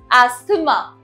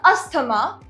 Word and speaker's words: asthma: Next is asthma. It's not asthma. It's asthma. Next is nuptial.